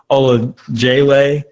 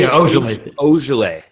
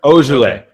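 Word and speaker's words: Ojeleye: Semi Olajale, the second round. Semi Ojale. There you go. Ojale. Okay. Let's go. You guys want some French lessons now? There you go. But I think that Ojale could end up being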